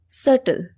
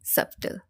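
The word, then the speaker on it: subtle: জেন্ডি বাট ইটস not true এটা হবে জেনরা ধরণ এটার অর্থ হচ্ছে ধরণ কোন কিছুর ধরণ সটল সটল সটল এ আমরা কি বলি সাবটেল আমরা বির উচ্চারণটা আমরা করি কিন্তু এখানে বিটা কি লেখার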